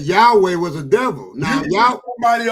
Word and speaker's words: Yahweh: They said But if you say Yad-Hey, Yad-Hey, You then said it wrong, Jay. It's Yahweh.